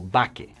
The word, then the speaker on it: bake: No se pronuncia la E al final, no es cake o bake. Decimos cake, bake, lake, drake.